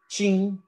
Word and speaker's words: teen: the tendency to use the word teen or in brazilian pronunciation chin for adolescents for adolescents